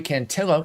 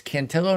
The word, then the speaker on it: Cantillo: I put Joey Cantillo. It's Cantillo, not Cantillo, folks. He is Italian, not Hispanic.